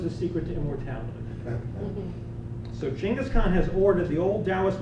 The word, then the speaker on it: Chinggis Khan: to meet him so the pronunciation that everyone uses Genghis Khan was introduced by Voltaire but the Mongol in its chingas China's economy Chinggis Khan wants to meet him he's